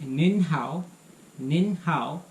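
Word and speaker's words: 您好: You can just add an N sound at the end of ni. So if you say nin hao, that becomes a little more formal.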